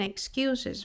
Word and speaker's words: excuses: You're always making excuses for not helping with the homework. Ok? Então, aqui a gente pronuncia o som do S, excuses.